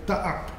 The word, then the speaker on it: ta'ak: But in Bunun, the root occurs all by itself in stretched form, ta'ak, and the glottal stop is actually optional.